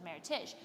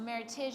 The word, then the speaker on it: Meritage: between meritage verb versus maritish well meritage is how you pronounce it not meritage because it's a merriment of two heritages and so she had